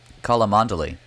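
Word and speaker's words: Cholmondeley: hugh oh my god someone taught me how to say this word call a mondeley right how do you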